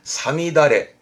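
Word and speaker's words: 五月雨: 발음은 사미다레. 특별음으로 읽어요. 사미다레.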